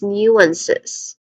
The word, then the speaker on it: nuance: When it comes to pronunciation, we have we have two syllables. News. Starts with new. New. It just sounds like the word new. Ne. New. Again, new. Now looking at the IP transcription, don't be confused with the letter J there. It's not the sound of letter J um as it is